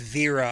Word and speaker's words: Vera: By the way, I believe her name is pronounced Vera.